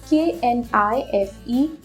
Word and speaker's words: knife: K-N-I-F-E, knife. K has to be silent here.